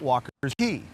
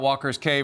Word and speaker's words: Walker's Cay: Just like how when you're at Walker's, Bahamians call it Walker's Cay, even though it's spelled C-A-Y. We all say Walker's Cay. They both work.